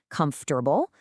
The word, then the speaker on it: comfortable: Standard American pronunciation requires 3 syllables, comfortable, but the speaker pronounces it with 4 full, unreduced syllables based entirely on the spelling.